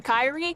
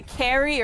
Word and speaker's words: Kyrie: that be like me with my name Kyrie so many people say Carrie or Karai defeated wow we got crushed everybody I didn't do nothing.